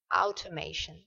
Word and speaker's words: automation: Donc vous vous allez le prononcer à la française et bien en fait ça se prononce out automation. Automat et ici le t o i o n c'est comme information. D'accord ?